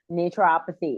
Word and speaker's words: naturopathy: Naturopathy, and it is a mouthful.